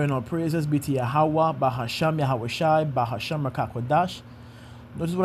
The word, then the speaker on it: Yahawah: like a U, but the pronunciation is more rounded like a U.